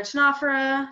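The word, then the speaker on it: Ctenophora: And we've got our Tenophora, Silent Sea, with 100 species, which are little comb jellies, super cute little plankton.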